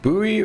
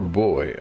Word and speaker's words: buoy: And buoy is the American pronunciation and then boy is the British pronunciation which technically I should